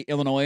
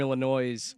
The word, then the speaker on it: Illinois: was they now play Illinois in the second round of the tournament. And somebody tweeted out that this game is for the loser has to pronounce the S.